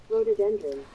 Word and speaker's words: rhododendron: Rhododendron.